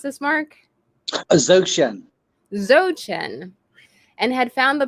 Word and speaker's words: Dzogchen: He had become a serious yet self-taught student of Eastern philosophy, particularly Zen and how do you pronounce this, Marc? Dzogchen.